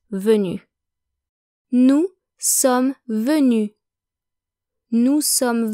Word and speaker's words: venu: Remember though that these do not affect pronunciation, so whether you add the E or the S, or nothing at all, venu is still pronounced venu.